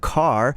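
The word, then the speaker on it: Cahr: And there's a new demo for the game that's going to be coming out called Car. It's spelled C A H R cuz you use your voice to like scream a car.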